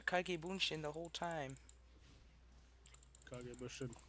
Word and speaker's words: Kage Bunshin: Kage Bunshin, not Kanki Bunshin. I said Kage Bunshin.